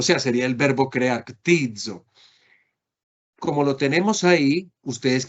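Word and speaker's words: κτίζω: Miren cómo es tizo, tizo. No es fácil de pronunciar porque tiene una capa introduciendo la expresión ctizo, ctizo, ctizo.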